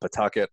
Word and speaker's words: Pawtucket: I try to correct my Rhode Island accent so I can pronounce that correctly if anybody wanted to Google it. We call it Pawtucket.